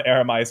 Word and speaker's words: Aramai: How do you pronounce Aramai? Aramai.